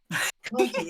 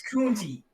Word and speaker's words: Kunti: It's not Cunty, it's Kunti. I'm always pronouncing it Cunty.